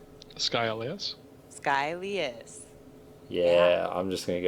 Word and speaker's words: Skylias: Skylias. Yes, that's you pronounced it right. Skylias? Yeah, Skylias.